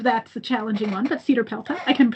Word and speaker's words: CEDARPELTA: The pronunciation of that's the challenging one, but Cedar Pelta. I can spell it CEDARPELTA.